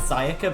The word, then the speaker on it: Sayaka: how long either she was also apparently it's pronounced sayaka but i'm just gonna keep saying this they